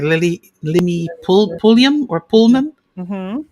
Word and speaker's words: Pulliam: Limi, I hope I'm saying it right, Limi Pulliam or Pullman. Mm-hmm. How do you say the name? Lemmy Pulliam. Pulliam.